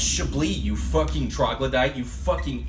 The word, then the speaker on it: Chablis: and he finally stops you and goes, "It's pronounced Chablis, you fucking troglodyte, you fucking idiot, you complete nincompoop, go kill yourself."